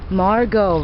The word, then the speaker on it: Margot: margot rhymes with argo yellow virgo spago dr zhivago chicago this is robertson boulevard